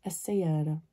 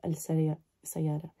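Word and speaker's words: السيارة: So sayara, which is a car, becomes as-sayara instead of al-sayara.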